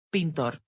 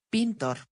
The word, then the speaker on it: pintor: Pintor, pintor.